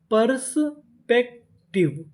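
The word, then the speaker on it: perspective: अगर आपको किसी भी मीनिंग के आखिरी में इ लिखा मिले तो हम लोग इ का उच्चारण नहीं करते। हम लोग इस से पहले तक का उच्चारण करते हैं।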